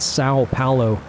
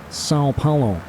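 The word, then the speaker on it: São Paulo: pronouncing that correctly, and he said you say the O part like sound, kind of nasally. It's not Sao Paulo, it's Sao Paulo, according to him.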